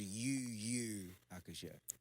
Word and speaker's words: Yu Yu Hakusho: Yeah, but it's pronounced UU Hakusho.